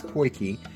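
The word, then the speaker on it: potjie: is spelled p-o-t-j-i-e but we googled the proper pronunciation and apparently it is porky porky is a small cast iron pot with a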